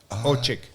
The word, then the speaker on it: Orcsik: The C-S is ch sound, and it's because it's Hungarian. Orcsik.